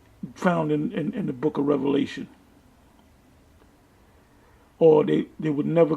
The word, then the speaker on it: Revelation: into the book of Revelation the only thing did this clown um dr. James wait to eat him I would say is just it's pronounced revelation not revelations that's about all he knows